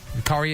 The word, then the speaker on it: Corey: Corey is in coriander. Is that how you say your name? Yes. Corey, perfect.